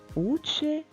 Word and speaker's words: учень: приголосний м'яким наприклад учень в цьому слові є м'який знак і звук який стоїть перед м'яким знаком буде м'яким учень пальці перед м'яким